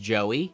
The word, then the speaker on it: Jowy: Joey, but it's spelled Jowy, Jowy. Well, which I like, because it makes it feel different, I guess. Yeah, it's supposed to be pronounced Joey.